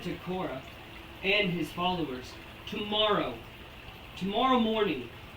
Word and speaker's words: Korah: Korah, I hope I'm pronouncing that name right. It's Korah.